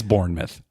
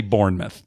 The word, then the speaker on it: Bournemouth: All right, it's Bournemouth. All right. It's Bournemouth. Okay, but it's spelled mouth. I know. Even Americans should say Bournemouth.